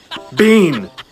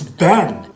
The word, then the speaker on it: been: Which means this word is, It'd be teen. which means this word is, Bean. no, it's been.